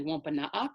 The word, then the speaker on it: Wôpanâak: Although that spelling right there of Wampanoag is actually Wôpanâak, so that's the Wampanoag pronunciation. Wampanoag is more like the anglicized pronunciation.